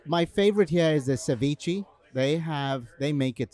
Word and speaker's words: ceviche: You just say ceviche. Ceviche. Like whatever. Like you're just pronouncing it the way it looks.